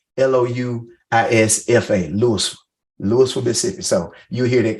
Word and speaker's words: Louisville: bit better me I'm from Louisville Mississippi it's pronounced like Louisville but we say it like l-o-u-i-s-f-a Lewis Lewisville Mississippi so you hear that come out and